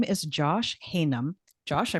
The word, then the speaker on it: Haynam: I have a guest and his name is Josh Haynam. Josh, I pronounced that right?